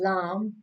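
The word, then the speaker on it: ل: This is lam. Lam pronounced on the edge of the tongue, touching the all front teeth, up front teeth. La, like spread your tongue, like la, la, lam.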